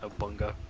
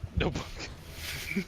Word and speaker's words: Nobunaga: I used to pronounce that Nobunga. Nobunaga.